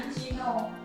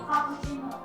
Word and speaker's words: cappuccino: Tadi itu ada kesalahan di pelafalan kata Ya, cappuccino. Harusnya itu cappuccino.